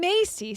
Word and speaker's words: Macy: Lillian Macy says, by the way, Macy is pronounced Macy like Macy's.